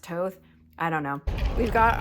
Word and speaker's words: Thoth: So on Sunday, we attended the Crew of Thoth, which is spelled Thoth. It looks like Thoth, but it's pronounced Toth.